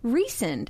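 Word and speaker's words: Rhysand: Ry, like the bread risand, and they pronounce it recend. And I'm like, ew. I'm immediately turned off because I always have been calling that guy rising.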